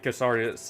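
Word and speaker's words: Cassardis: I believe Castardus is the correct pronunciation, but I could be mistaken there.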